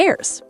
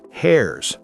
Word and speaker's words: heirs: The rest goes to the heirs. Heirs, not hairs.